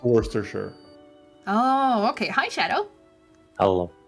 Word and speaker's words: Worcestershire: spelled it it's spelled word worchestershire but it's pronounced worcestershire oh okay hi shadow hello hey jed what's